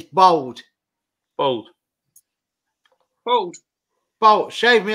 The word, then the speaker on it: Bold: That's B-O-L-D. It's Bold. bold. You say it bold, not bald.